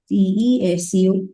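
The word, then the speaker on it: です: If it is desu, it is an accent, the slang of a particular prefecture. If you say desu, also not wrong. But if you stick on to the Tokyo slang, you will pronounce it with des.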